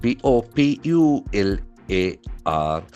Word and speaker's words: popular: P O P u L A R. So that is very interesting adjective. Popular. Popular. Okay. Popular. That is a very interesting observation. The accent falls on the first syllable.